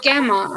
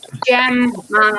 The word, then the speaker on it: Gemma: and i was like my name's gemma they're like oh gamer i'm like no jam man i had to literally